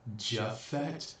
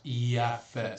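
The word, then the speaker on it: Japheth: whatever writing, there was no letter J back when the Bible was supposedly written from the scrolls. So if it's not Japhet, The Jewish person is going to tell you, oh, it was Yaphet, spelled with a Y. Even if we said Iafet, it doesn't matter.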